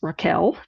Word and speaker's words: Rachel: character Rachel wild who she would tell you her name is pronounced Raquel but she grudgingly puts